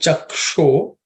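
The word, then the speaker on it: चक्षो: In terms of pronunciation, in the first line, I think chaksho, that sh is cerebral sh, so just pay attention to that.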